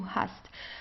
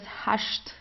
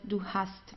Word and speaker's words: hast: Uh in southern Germany we have um we have some dialects where you would pronounce it as hasht. Okay. Like in the land as we call this region. So you would say do hasht.